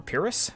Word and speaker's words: Pyrrhus: The next army we'll take a look at is Saba, and Saba is commanded by Pyrrhus, or Pyrrhus, depending on how you want to pronounce it, and he's spread out pretty much